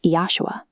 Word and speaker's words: Yeshua: His spoken Aramaic name was Yeshua. This is phonetically similar to the Arabic Isa, as the letter J is a recent addition to the English language.